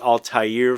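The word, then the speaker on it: Altaïr: I always forget the way that's pronounced. It's Altaire from the house of Marly.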